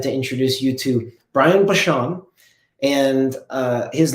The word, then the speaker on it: Bachand: fascinating i'm excited to introduce you to brian bashan and uh his name can look and and i guess be pronounced a number of ways but the proper pronunciation is bashon would you help me welcome brian to the